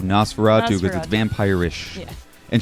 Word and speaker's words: NOS4A2: June 2nd on AMC now you know how to actually pronounce it I think people were having issues yeah you know as for a - it's called Nosferatu with a vampire ish